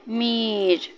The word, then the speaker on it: মীর: বন্ধুরা আমাকে মীর ডাকে মেয়ের উচ্চারণটা হবে একটু টেনে টেনে মীর এরকম বুঝতে পারলে পারলাম